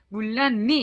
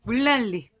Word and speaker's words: 물난리: 되겠구요 물난리 같은 경우에는요 문란 미 이렇게 발음 하진 않아요 그렇죠 네 여러분들이 물난리 의 경우는 요 약간 복잡해 했는데요 먼저 이 난 짜 n 왼발이 있잖아요 요기에 앞에는 를 만나서 율 발음이 됐구요 그래서 물 난리가 돼 쭈 그 다음에 여기에는 이니 은 날짜에는 이음 받침은 요 뛰는 미래를 만나서 밀 발음이 됐습니다 그래서 물난리 이렇게 읽음 해야 될것 같아요 좀 어렵죠